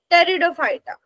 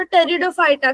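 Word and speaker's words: Pteridophyta: ब्रायोफायटा आणि division three टेरिडोफायटा त्या spelling मध्ये बघून म्हणाल तुम्ही स्टार्टिंग पीने होते म टेरिडोफायटा कस तर त्याचा टी सायलेंट आहे त्याचा उच्चार काय करणार आहोत टेरिडो फायटा सायलेंट आहे टेरिडो फायटा पाहिल लक्षात यस सो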